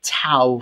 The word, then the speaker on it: tau: to infer a type tau for this so i'm pronouncing tic t as tau and there's going to